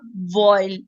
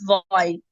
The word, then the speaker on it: vial: इट्स नॉट वॉइल, इट्स वॉइल, VIAL।